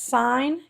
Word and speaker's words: sin: we're going to express sign and even though it looks like sin it's pronounced sign we're going to express